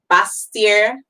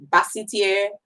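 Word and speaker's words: Basseterre: Kitts and Nevis, their capital is called Bastier, Bassetier, whichever your pronunciation is, that's their capital.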